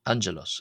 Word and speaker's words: ⲁⲅⲅⲉⲗⲟⲥ: Uh here the first G is pronounced as an N-N and the second G is pronounced as a J sound as in the letter Jeanja.